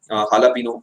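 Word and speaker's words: jalapeño: लेकिन एक्चुअल में जो जे होता है इनमें साइलेंट होता है, एच की आवाज आती है इनसे, हालापीनो जैसे बोला जाता है इसे, लिखते जे है बोलते एच है, न जाने ऐसा क्यों करते हैं ये लोग।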